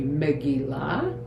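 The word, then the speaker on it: megillah: it's a scroll and the word megilla which really in Hebrew pronunciation would be megila means scroll and um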